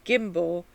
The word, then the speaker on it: gimble: two words sly thee i make the g hard in gair and gimble and pronounce it and